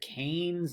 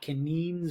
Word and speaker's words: Keynes: I don't get it his name is John Maynard Keynes not convenes or something weird so it's Keynesian economics